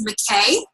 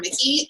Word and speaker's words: McKay: It's McKay. I wanted to call her Mickey, and she politely was like, just so it's not awkward down the road, this is how you say my name.